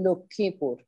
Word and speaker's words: লক্ষ্মীপুর: ব্যঞ্জন বর্ণের নিচে ফলা হলে সেই উচ্চারণ, ব্যঞ্জন বর্ণের উচ্চারণ একটু সানুনাসিক হয়ে যায়, চন্দ্রবিন্দু দিয়ে বলতে হবে। যেমন লক্ষ্মীপুর, হ্যাঁ, যেমন আত্মা, ভালো বুঝলাম না।